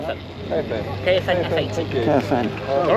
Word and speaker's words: Caofen: How do you pronounce it? All right. Caofen F80. Caofen.